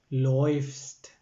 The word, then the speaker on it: läufst: ഇഹ് ലൗഫെ, ദു ലോയ്ഫ്സ്റ്റ്. ഉച്ചാരണം ശ്രദ്ധിക്കുക, ദു ലോയ്ഫ്സ്റ്റ്. ഇഹ് ലൗഫെ, ദു ലോയ്ഫ്സ്റ്റ്. ആ എ ആയിട്ട് മാറി, ആ ഉംലൗട്ട്.